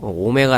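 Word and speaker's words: ω: 어 이렇게 양 문자라고 알아두시면 될 것 같아요 오메가 라고 읽어 주시면 되구요 1 허그 늘 오메가 라고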